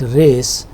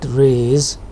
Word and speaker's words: raise: Therefore, the pronunciation here is not race, but raise, and z sound, which is alveolar, is a voiced sound.